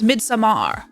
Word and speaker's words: Midsommar: It's spelled Midsummer, but I don't know how it's pronounced. Yeah. I've heard it pronounced mostly as Midsommar.